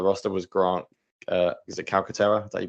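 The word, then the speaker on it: Calcaterra: had on the roster was Grant is it calcatera is that you pronounce it yes um I mean I don't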